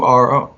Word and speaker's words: Maduro: And Maduro is Maduro. Like the banana. Like the banana. Like so the ripe banana. He's named Maduro, not like a Maduro, but exactly a Maduro.